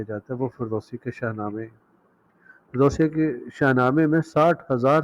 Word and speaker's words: شاہنامہ: خصوصیات نظر آتی ہیں۔ شاہنامہ یا شاہنامے فارسی تلفظ میں جسے شاہنامے کہا جاتا ہے، اس کا لفظی مطلب